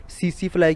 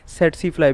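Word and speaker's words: tsetse: through transmit होता है इसे दोनों टी को साइलेंट करके सीसी फ्लाई भी बोलते हैं और सिर्फ पहले टी को साइलेंट करके सेट सी फ्लाई भी बोलते हैं ठीक है दोनों प्रनंसीएशन ठीक है इसकी दें एक्सेस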